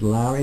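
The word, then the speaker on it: Lourey: I presume you pronounce it Lowry, is it? Yeah.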